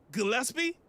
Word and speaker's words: Gillespie: But shout out to Tyree Gillespie.